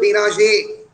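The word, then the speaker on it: Bérenger: BRENGR উচ্চারণে বেনাজে।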